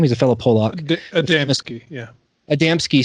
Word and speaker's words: Adamski: Adamski, yeah.